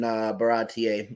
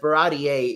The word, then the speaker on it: Baratie: are just talking in Baratier, which I kind of realized Baratier is the correct way to pronounce it. I always called it Barati up until now.